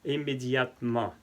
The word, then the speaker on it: immédiatement: Immédiat, immédiatement. Como pueden ver, no pronuncio la E. No pronuncio la E para que sea más fluido.